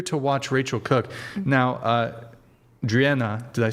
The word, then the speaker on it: Driena: Now, Driena, did I say it right?